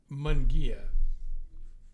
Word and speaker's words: Munguia: to pronounce it so the easy way to do this is to say m mu n and the next word Gia Gia Mia and for and for us folks out there who are Old-Timers you'll know about the Volkswagen Carmen gear that was always the easiest way to tell people how to pronounce my name because he he told